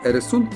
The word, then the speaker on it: Øresund: Но дело в том, что эта буква в шведском и норвежском языках выпадает, по крайней мере, в конце слога. Теперь пошлину приходится платить за пересечение пролива Эресунд на автомобиле по мосту.